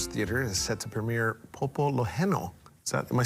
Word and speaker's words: Pōpoloheno: Popo Loheno.